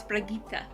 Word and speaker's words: Brigitte: I thought it was Brigitte, but no, it's Brigitte.